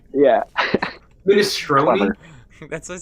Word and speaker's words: minestrone: That's actually how you say it. I'm actually correct. My family's Italian.